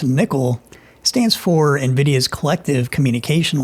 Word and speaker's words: NCCL: NCCL, pronounced nickel, stands for Nvidia's collective communication library.